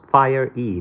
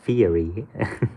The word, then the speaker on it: fiery: Robert Lapinto says, hey Yaman, fiery is pronounced fire-y, not fiery.